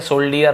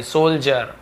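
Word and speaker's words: soldier: द सोल्जर्स, यहाँ पे D cell है ना, सोल्ड है ना, सोल्जर्स ऐसे हो रहा है, सोल्जर ऐसे नहीं हो रहा, ठीक है, सोल्डियर नहीं, सोल्जर।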